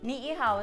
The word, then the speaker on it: Ni'ihau: Ni'ihau is the island that is farthest north.